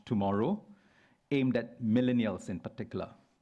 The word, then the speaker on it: TMRW: United Overseas Bank from Singapore has just launched in Thailand a digital-only bank, TMRW, pronounced tomorrow, aimed at millennials in particular.